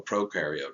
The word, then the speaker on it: prokaryote: in comparison to a prokaryote. Remember, you are a eukaryote. Your cells have nuclei. Pro rhymes with no.